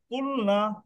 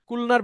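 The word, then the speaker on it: قُلْنَا: তখন উচ্চারণটা হয়ে যাবে কুলনা।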